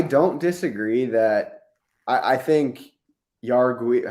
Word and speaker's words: Jauregui: Okay, so I don't disagree that I think Yargui. How do you say it? Jargui. Jauregui. Jauregui. Like when you say jamon, you know, ham?